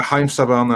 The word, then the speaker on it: Haim Saban: Haim Saban, I'm saying it right? Yeah, Haim Saban and Shuki Levy.